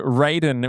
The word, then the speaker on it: Raiden: Like it's like Braden or something.